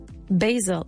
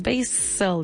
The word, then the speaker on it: basil: Basil. Y se escribe con S, pero no decimos basil, decimos basil, como si fuera una Z, fíjate.